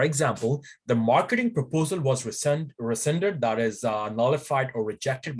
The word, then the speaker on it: rescind: No, some people say resigned, but the true pronunciation of that is resent. R-E-S-C-I-N-D, rescind.